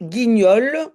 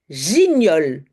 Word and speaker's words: guignol: Attention, il faut un petit U après le G, sinon je vais prononcer gignole. Attention hein. Donc le U est là simplement pour dire attention prononcer G et pas je C'est pas gignole mais guignole.